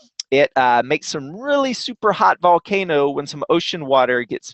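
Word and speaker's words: volcán: hiking up an active volcano called volcan pacaya so pacaya volcano so when I say volcanoes today their names and I say Vulcan that's just how it's pronounced in Spanish but before we go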